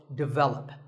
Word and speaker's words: develop: But the first syllable is actually de, and the stress is on the second syllable, so develop.